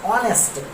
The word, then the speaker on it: honest: H will be silent here. It will be honest, not honest. It is honest. H is silent here. The pronunciation of this word is honest.